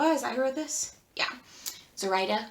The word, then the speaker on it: Zoraida: of orchidea divina by zorida cordova as i wrote this yeah zoraida cordova is probably how her name is pronounced my bad this